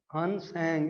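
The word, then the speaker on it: Hiuen Tsang: और उसके बाद जो दूसरा नाम मैंने लिखा है इसको हन, इसमें T साइलेंट होगा, हन सैंग इसको आप कहेंगे।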